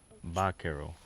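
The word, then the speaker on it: vaquero: So, Vakerero is obviously Spanish. But as far as I can understand from a documentary I watched, Vero. Uh there there's not really a V in there, even though obviously spelled with a V in English. They would say more something like Bero with a BBA.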